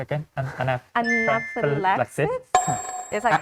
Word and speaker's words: anaphylaxis: Anaphylaxis? Is that correct? Anaphylaxis. Anaphylaxis. Yeah, there's Five. 5 syllables. Anaphylaxis. Yeah, perfect. Yeah. Yay. Yeah, and so anaphylaxis with the stress on the 4th syllable.